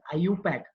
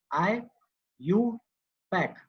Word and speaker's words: IUPAC: It is pronounced as IUPAC. IUPAC. IUPAC.